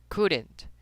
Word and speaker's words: couldn't: Por ejemplo, recuerden que en la mayoría, si no en todos los modos, la L nunca se pronuncia. Nunca se pronuncia. Entonces, ¿cómo pronunciaría esta palabrita? Dirá, se dice couldn't, couldn't, couldn't.